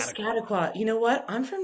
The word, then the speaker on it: Piscataqua: On his rare days off, he'll be kayaking the uh Piscatwaqua Pisca Piscataqua.